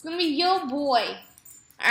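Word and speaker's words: voy: It's going to be yo boy, all right? It's spelled V-O-Y, but because in Spanish the V's are pronounced as B's, we're going to say boy, like a little boy, little girl, little boy, okay?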